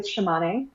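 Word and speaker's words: Tsimane: there they're all horticulturalists so one is the shimane um for those of you not familiar with the shimane their name is spelled t-s-i-m-a-m-e so it makes it easier to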